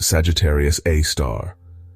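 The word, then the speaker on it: Sagittarius A*: The one at the center of our galaxy is called Sagittarius A. That's pronounced Sagittarius A star.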